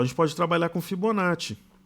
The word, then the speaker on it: Fibonacci: Fibonacci não é com 2 Es, então não é Fibonacci. É Fibonacci ou Fibonacci, ok? Mas a pronúncia correta é Fibonacci. Se fosse com 2 E, seria Fibonacci, como Arezzo ou pizza, ok?